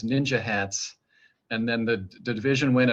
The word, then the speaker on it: NYNJ HATS: hats or nynj hats which i started pronouncing as ninja hats and then the division